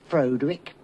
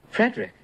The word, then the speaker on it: Frederick: No, it's pronounced Frankenstein. Do you also say Froderick? No, Frederick.